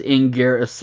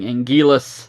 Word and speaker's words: Anguirus: epic battle against Anguirus, which I am now properly pronouncing as Anguirus for the Japanese versions. The dubs were saying Anguillus, and, thus my silly American brain.